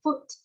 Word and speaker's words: foot: Còn cái này nó cũng là double U nhưng mà chữ này bạn đọc là foot. Âm U ngắn thôi bạn, đọc nhanh và dứt khoát.